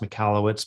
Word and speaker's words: Michalowicz: so hard to pronounce it is pronounced michalowitz but that's how i